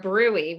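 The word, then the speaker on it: bruit: heart check my abdomen for a brewery right it's spelled brute but check for that turbulent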